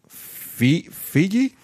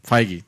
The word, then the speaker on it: Feige: Kevin Feige? I'm sorry. Feige. I'm mispronouncing names left and right.